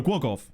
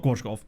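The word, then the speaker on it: Głogów: Oh no, Gwogov. Not Gwozgov. Gwogov.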